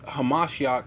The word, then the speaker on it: HaMashiach: Lo here is Hamashiach, right? Because that's really how you say it.